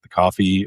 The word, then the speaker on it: Ko-fi: at supporting the uh coffee or ko-fi. I think it's pronounced coffee. No one knows, right?